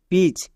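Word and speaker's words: pitch: এইচ ব্যবহার করবো না যেমন এখানে দেখো একটি ভাওয়েল আই আছে এবং শেষে চো পড়ছে তাই চ এর জন্য টি সি এইচ হচ্ছে পি আই টি সি এইচ পিচ বোঝা গেল শুধু আমরা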